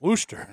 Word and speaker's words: Worcester: don't i think he's that right booster yeah wooster oh he gets rid of the shire he